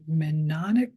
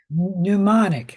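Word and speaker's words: mnemonic: question about that and it's a minic no that's not how you say it either ah well demonic no however you say that word I think it's pneumonic pneumonic there you go m n e m o n i c yeah I don't know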